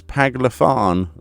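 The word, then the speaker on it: Paglth'an: to pronounce this the peg the pagle fan paglet and that anyway the pagle fan as we're going to just pretend we know what we're saying actually me only it's paglifan you know never mind powthon pylthon pylthon pylthon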